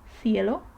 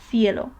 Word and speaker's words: cielo: by E or I, like for example in the word cielo, which means the sky, then it is more similar to this TH sound in thing, okay? Thing, cielo. Some people, especially in Spain, pronounce it more like an S, like sound, sound, cielo. But I'm more inclined, or most people are more inclined towards the TH or something in between, so we're always safe with TH.